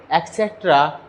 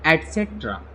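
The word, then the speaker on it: etc.: यहाँ पे बच्चों कुछ लोग जो प्रोनाउंसिएशन जो होता है ईटीसी का वो गलत बोलते हैं, एक्सेट्रा इस टाइप से वर्ड कुछ यूज करते हैं। तो इसका सही करेक्ट प्रोनाउंसिएशन होगा माय डियर एस्पायरेंट, वह आपका होगा ETC। लिखा हुआ है ईट जरूर, लेकिन इसका जो प्रोनाउंसिएशन होता है वो निकलता है एटसेट्रा, एटसेट्रा।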